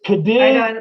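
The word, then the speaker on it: Cádiz: I mean, I It's Cadiz. I don't Yeah, speak Spanish, but I know that they have that sound like the Z is right. like ta, like Cadiz or But if you something, live right?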